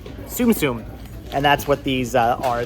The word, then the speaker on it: Tsum Tsum: the standard size it's TS M TSU M pronounced susum Tsum and that's what these are this is a